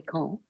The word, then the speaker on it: quand: Quand is spelled Q-U-A-N-D, but when you link it to a vowel, oddly, it sounds not written, not written, not written. It sounds like a T.